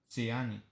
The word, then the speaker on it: Ziani: Zayn is saying, did I pronounce that right? No. Ziani.